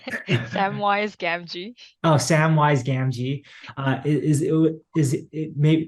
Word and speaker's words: Samwise Gamgee: So Pio mentioned Sam Gee's why I forget how you pronounce it, but Sam Gee's wise Jin. Samwise Gamgee.